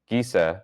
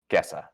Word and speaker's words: Gessa: After that, uh, Tom Lane, the mayor's secretary's wife, uh, Giza is murdered. Am I mis is that how you pronounce that? Uh, it's Gessa. Gessa.